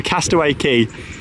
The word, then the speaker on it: Castaway Cay: might be thinking oh Sean you're calling it Castaway key it's it says K on the signs and the name of it but no is pronounced key so Castaway key is how you say it for anybody that's